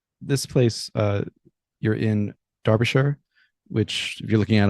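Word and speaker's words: Derbyshire: So, this place uh you're in Darbisher, which if you're looking at it on paper is Derby, but pronounced Darbasher.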